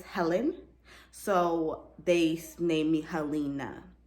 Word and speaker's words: Helena: so they named me halina it's spelled h-e-l-e-n-a but it's pronounced halina my middle name is